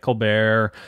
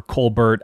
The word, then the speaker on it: Colbert: Capra film, Clark Gable, Claudette Colbert, or Colbert. Colbert. Okay, I was right. Yeah. I was right. Okay, Stephen good. Colbert stole the pronunciation. Seriously, because he was Colbert. He did. Oh, wow. He changed the pronunciation.